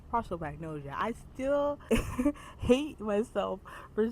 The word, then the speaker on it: prosopagnosia: who has uh prosopagnosia, which I was pronouncing in my reading vlog as prosopagnosia. What the is prosopagnosia? It's pros- prosopagnosia.